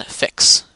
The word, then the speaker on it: FICS: so here register on fix you pronounce the fics fix just to be short